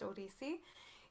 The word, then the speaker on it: Odissi: form it's not an acronym by the way odissi it's pronounced odisi it's a classical indian dance from the temples